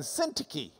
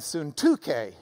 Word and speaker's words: Syntyche: But if you've got the Greek reading next to it, you might as well pronounce it the way they do. So it is Euodia and Syntyche.